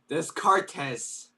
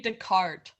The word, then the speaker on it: Descartes: I think it's French, if that helps. Joseph, give it a shot. All right. I'm not too sure what I'm looking at right now. So the thing that I underlined, it starts with a D. Degree. How would you pronounce that? Oh. Descartes. I'm so glad I called on you. Pretty good. Pretty good. It's French, so try with a French accent.